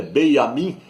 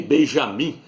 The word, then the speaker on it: Benjamin: o nome dele é Benjamin Nataniel, não é nem Benjamim, porque no hebraico não tem a letra J, não é Benjamim, é Benjamin Nataniel, filho da mão direita de Ial.